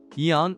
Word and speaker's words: AEON: Aeon, or Aeon, the way the Japanese pronounce it, is a chain store, which include the largest malls as well as max value supermarkets.